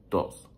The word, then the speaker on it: todos: Todos, like when I'm speaking fast, I don't say todos, I say dos. Like, you know, like toes, you know?